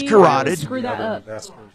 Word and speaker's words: carotid: It's carotid. Screw that up. I know it looks like cartoid, but it's carotid.